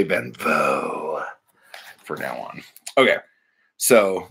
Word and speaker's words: van Vogt: Van Vogt. Van Vogt. I'm going to say Van Vogt for now on.